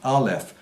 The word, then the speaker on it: Aleph: So then we can understand why it is that the letter A relates to Aleph. That's what it's called in that sacred alphabet, that sacred language. It's pronounced Aleph, and it meant breath.